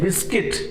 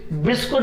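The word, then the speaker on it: biscuit: ठीक, तो अब मुझे कहना है दिस बिस्किट, बिस्कुट मत कहना, बिस्किट होता है इसका सही प्रोनाउंसिएशन, बिस्कुट नहीं कहना।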